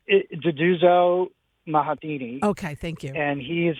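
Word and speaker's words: Nduduzo Makhathini: I can't pronounce the last name. It's Duduzo Mahatini.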